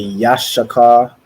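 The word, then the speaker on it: Yissachar: let me see so in the Hebrew it would be Yash Shaka so it's say Yash and then Shaka which means he is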